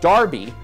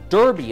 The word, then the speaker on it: Derby: Now nearly every country, every state has a race for three-year-old horses with Darby, or Derby as Americans pronounce it, in its name.